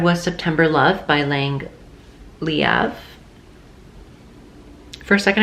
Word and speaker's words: Leav: september love by lang liav for a second i almost pronounced her name believe and she she has said it many times that that is not how her name is pronounced amazing poetry book love